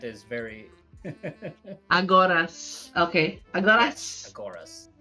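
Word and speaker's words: Agoras: a s a g o r a s aoras okay yes aoras sorry my English accent is very aoras okay aoras aoras right do follow aoras he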